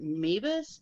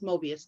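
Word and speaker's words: Möbius: through um i would never say it right mavis mavis time m-o-i-b-u-s where it's the strip that goes back on each other and it's all one side yes mobius thank you um but he travels through that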